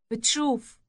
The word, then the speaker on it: بتشوف: It has a T sound after the initial B sound. بتشوف بتشوف And here's how to say to a woman, you see.